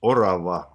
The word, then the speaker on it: orava: is a uh orav I'm going to pronounce it in Finnish orava o r a v